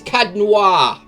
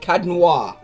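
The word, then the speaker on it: Caed Nua: It's Cadnoir. That's how you say it, Cadnoir.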